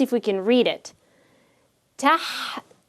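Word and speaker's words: تحتاج: Tahtaj. Remember, the fatha is just the shortened version of the alif, the long vowel alif. Tahtaj.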